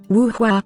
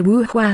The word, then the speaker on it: Wu Hua: The pronunciation of the name Wu Hua sounds exactly like the words for an oak painting.